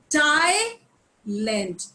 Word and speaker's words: Thailand: Thai because इनका जो H है वो it is this T and H is pronounced as one. So it is Thailand. हम लोग जैसे TIE Thai बोलते हैं ना, TIE. So it is pronounced like this.